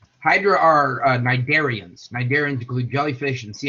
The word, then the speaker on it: cnidarians: Hydra are what we call, a word, I love this word, especially because the first letter is silent. Hydra are cnidarians.